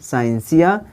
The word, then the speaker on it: scientia: Latin word साइंस SCIENTIA, इसका उच्चारण होता है साइंसिया।